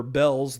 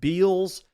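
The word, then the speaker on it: Bealls: Now you might not remember Bell's the retail store. It's spelled B E A L Ls. And I used to pronounce it Beals, but apparently it's pronounced Bells.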